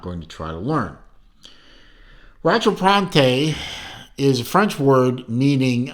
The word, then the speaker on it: Rattrapante: seems to be that he pronounced it Rattrapante. Rattrapante is a French word, which explains to you